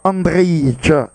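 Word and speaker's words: Andrej: La touche rapidement exécutée par Andrei, puisque le J ne se prononce pas dans cette langue.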